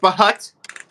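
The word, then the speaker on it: Bhut: I think his name is pronounced Bahut.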